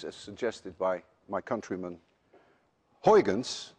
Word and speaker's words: Huygens: suggested by my countryman Huygens which actually should be pronounced hyphens none of you can